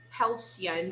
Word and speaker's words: halcyon: Halcyon, the pronunciation actually.